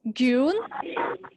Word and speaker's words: grün: Just pay attention to the pronunciations, okay? It's grün, and schwarz.